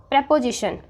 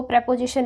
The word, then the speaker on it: preposition: के साथ ठीक है तो कई बार बच्चे इसको प्रपोजिशन ना रीड करके प्रीपोजिशन रीड करने लग जाते हैं प्री मींस पहले